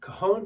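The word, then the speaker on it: cajón: this is the Cajon it pronounced Cajon but it's spelled c-a-j-o-n it's an African originated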